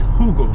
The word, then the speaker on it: jugo: In Spanish, it's not jugo, it's hugo. Hugo.